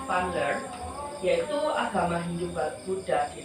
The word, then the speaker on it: Van Leer: Bacanya Van Leer, yaitu agama Hindu Buddha di Nusantara dikarenakan adanya ketertarikan bangsa Indonesia terhadap sebuah pembelajaran, yaitu dengan mengundang para Brahmana.